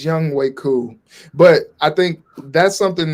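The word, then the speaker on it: Younghoe Koo: JJ Young Hoku. Juju. Young Hoku. Young Hoku. It's Young Way. It's Young Way Cool.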